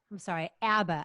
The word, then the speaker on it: ABBA: ABBA. Apparently, I've been pronouncing ABBA wrong my whole life.